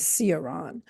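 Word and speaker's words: Cioran: the Romanian philosopher em Karan of Americans sometimes pronounce his name as Saron and I had never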